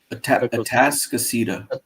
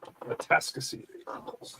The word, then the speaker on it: Atascocita: Atascocita. Atascocita. Yeah. Tasca and then Cita. Yeah. Atascocita.